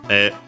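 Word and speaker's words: へ: E written as he. But yeah, pronounced as e because it's the rule.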